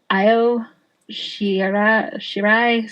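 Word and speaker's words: Io Shirai: know how to say her name it's like IO sh shirai something like that IO s sh i r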